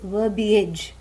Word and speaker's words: verbiage: And let us understand, let us note here that the word verbiage rhymes with garbage.